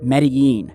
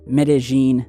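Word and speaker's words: Medellín: i'm speaking of is medellin colombia or medellin depending on how you want to pronounce it but if you guys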